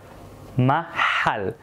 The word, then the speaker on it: محل: Now محل has a strong H. محل. So pay attention to that. It's also a throat letter.